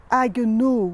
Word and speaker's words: Haguenau: venturi m'est arrivé à haguenau oui parce qu'on prononce à à la française même si c'est un nom allemand haguenau les amis haguenau j'ai